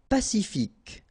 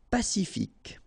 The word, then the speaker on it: Pacifique: Pacifique. Q-U-E, K. Pacifique.